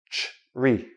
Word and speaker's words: tree: Like a tree that grows, but even a tree is tree.